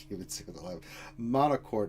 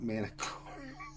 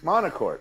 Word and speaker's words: Monocourt: Yeah, it's Monocourt, not Manicourt. Oh, okay. Monocourt.